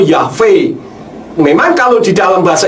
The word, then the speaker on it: Yahweh: Indonesia orang mengatakan yhfh seharusnya membacanya bukan yahwe tetapi yahb atau yahve memang kalau di dalam